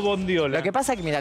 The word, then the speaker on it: bondiola: almóndiga mondiola mondiola o bondiola lo que pasa que mira la palabra la mayonesa o la mayonesa la palabra es bondiola pero mondiola es hermosa mondiola es hermosa Pero no no existe mondiola tengo miedo decirlo mal